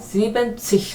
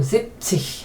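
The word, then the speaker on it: siebzig: 지벤치 하면 너무 길어지고 뭔가 지루하다. 그래서 N을 빼고 zip치 하면 뭔가 상당히 그 스마트한 느낌 든다. 들도록 해보세요.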